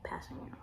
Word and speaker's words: Kpassagnon: I remember he went up for the blitz, and then I just remembered how to pronounce his name. Tanoh Kpassagnon. I know how to say his last name, Kpassagnon.